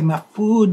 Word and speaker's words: Majfud: about my next guest his name is jorge mafude that's spelled m-a-j-f-u-d if you want to